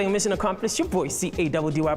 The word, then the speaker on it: Caddy: Your boy, C-A-D-D-Y pronounced Caddy, is cashing out.